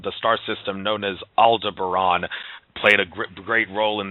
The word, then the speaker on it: Aldebaran: It's pronounced Aldebaran. Aldebaran.